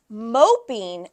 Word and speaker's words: moping: Moping and mopping, same exact thing, but the vowel sound changes, right?